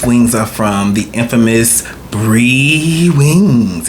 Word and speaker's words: BreWingz: These wings are from the infamous BreWingz. Is it Bree or Brew? Or BreWingz. BreWingz. Okay, yeah, BreWingz. Let me say it correctly.